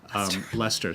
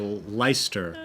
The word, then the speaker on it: Leicester: have to figure out how to pronounce Lester so oh yeah everyone looking at the name will every American will say the Leister submit I think maybe